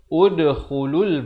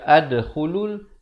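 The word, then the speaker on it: ادْخُلُوا: Bayangkan kita baca di awal ayat, cara baca pada perkataan ini adalah udkhulul ba. Ud dibacakan dengan baris dhammah. Jangan baca adkhulul ataupun idkhulul. Baca dengan udkhulul.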